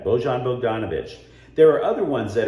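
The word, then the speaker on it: Bojan Bogdanović: from usa today etc beaujon bozon bogdanovic i can't believe i mispronounced his name that's on my bad bojon bogdanovic there are other ones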